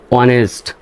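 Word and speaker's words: honest: হওয়ার কথা তাই না হনেস্ট কিন্তু এইচ এর উচ্চারণ এখানে সাইলেন্ট হবে এটা আপনারা এই শব্দে এটা এই শব্দটা আপনারা চিনে রাখবেন জেনে রাখবেন যে এরকম বানানে এইচ এর উচ্চারণটা সাইলেন্ট হয় ও এনইএসটি এতটুকু উচ্চারিত হবে এই অংশটা উচ্চারিত হবে ও এনইএসটি অনেস্ট হবে অনেস্ট অনেস্ট না এস এর উচ্চারণ বাদ দিয়ে করবেন।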